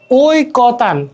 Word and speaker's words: ঐকতান: ঐকতান, ঐকতান, হ্যাঁ এইভাবে ওই লিখতেছে, এভাবে ওই লেখা আছে, বাট আমি যখন এটা মানে সঠিক উচ্চারণ করতে হবে যে ওই কোতান, ঠিক আছে, ওই, এখানে লিখতেছি ওই, আর এখানে ওই, হ্যাঁ।